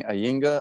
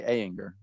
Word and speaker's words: Ayinger: Well, in the States, we say Ayinger, but, you know, old Google Translate was Ayinger Altbairisch Dunkel.